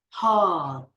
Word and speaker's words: hull: Just end at the L, the last sound of the L, like hull.